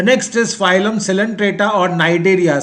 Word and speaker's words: Cnidaria: The next is phylum Coelenterata or Cnidaria. C is silent here. Cnidaria.